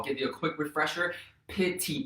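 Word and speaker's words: PITI: you a quick refresher pity payment is spelled p-i-t-i that's principal interest property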